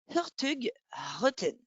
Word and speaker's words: Hurtigruten: Donc, si on regarde à l'écran, on voit Hurtigruten, mais de la façon dont on le prononcerait à la norvégienne, ça serait Hurtigruten.